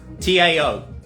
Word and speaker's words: Tao: TAO, okay, pronounced it Tao, so some of you might be familiar with Taoism.